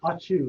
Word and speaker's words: ACIU: aciu pronounced audrey sneeze it's pronounced achoo like a sneeze it disappeared i just